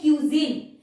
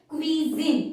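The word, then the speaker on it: cuisine: pronounce कर देते हैं हम बोलते हैं क्यूजन ये क्यूजन नहीं है इट is spoken as क्विजिन इट इज नॉट क्यूजन इट इज क्विजिन सो याद रखना ये भी क्विजिन का मतलब होता है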